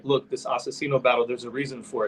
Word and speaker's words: Aczino: too like as far as like look this asacino battle there's a reason for it you know